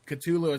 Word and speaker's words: Cthulhu: And we were listening to this song called The Call of Cthulhu, or Cthulhu as they pronounce it on the album, or whatever it is.